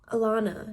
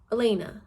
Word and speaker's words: Elena: I was thinking of or Alana. No, Elena. Yeah, Elena. Because it's spelled, I want to say Alana, but it's Elena.